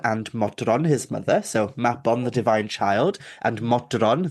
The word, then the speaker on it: Mabon: So Mabon, the autumn equinox, the word actually hails from Welsh culture, from Welsh mythology, and it's actually pronounced Mabon, not Mabon, Mabon.